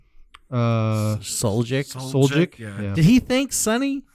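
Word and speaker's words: Suljic: Soljic?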